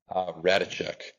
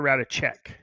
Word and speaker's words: Rataczek: Rataczek. Rataczak. Yeah. Rataczak or Rataczek? Check, like writing a check.